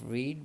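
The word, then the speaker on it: read: third form of verb spelling इसके same होते हैं और रीड भी इसी इसे ही पढ़ते हैं फर्स्ट फॉर्म में और लेकिन जब थर्ड फॉर्म है स्पेलिंग सेम ऐसे ही लिखे जाते हैं लेकिन इसको रेड पढ़ते हैं और नीचे बुक बुक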